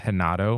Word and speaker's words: Renato: side of the family all the r's are pronounced like H's it could be a Portuguese thing I'm not sure but